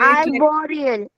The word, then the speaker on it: arboreal: Wait, Arboreal.